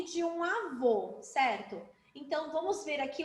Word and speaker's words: avô: imagem do vovô Então quero que vocês agora pronunciem a palavra avô Então vamos lá alto a vô abriram a